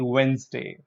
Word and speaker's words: Wednesday: No, the D is silent here, so it's actually Wednesday.